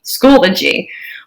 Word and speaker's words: Schoology: It is 3 syllables. School-O-G, Schoology.